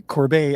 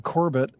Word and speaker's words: Corbet: uh fortunately taught me how to correctly pronounce the direct of the brutalists uh name which is Brady Corbet I'd been saying Corbett so thank you Christopher